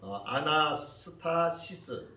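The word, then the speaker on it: ἀνάστασις: 탭이라고 하는 단어예요 그래서 아나스파시스 라고 발음을 하는데 그 뜻은 일어나다 또는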